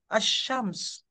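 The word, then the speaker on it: الشمس: tulis assyams betul betul Kalau Anda tulis assyams begini alsams tulisannya tapi kalautia persentasi bacanya asyams ya tetap yang mana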